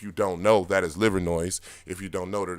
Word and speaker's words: Livernois: of fashion if you don't know that is Livernois if you don't know that it's pronounced liver Noir right and it's a whole history with that